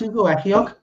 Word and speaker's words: Ugochukwu: That's Ugochukwu.